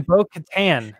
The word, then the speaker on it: Bo-Katan: She pronounces her name Bo-Katan. So I was like, oh, Bo Settlers of Catan.